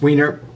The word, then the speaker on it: Weiner: And then we get to, once this is done, A Bone Companion by Stephen, I think that's pronounced Weiner, which had previously only been available as an ebook.